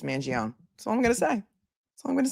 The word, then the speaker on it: Mangione: I'm not going to argue about the pronunciation of Mangione because it doesn't end in an I. That's all I'm going to say. If you're from New York and New Jersey or the tri-state area, it's Mangione.